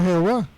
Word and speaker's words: Jehová: En el siglo XVI se muestra entonces Jehová, se pronuncia Jehová y significa diosa, destructora.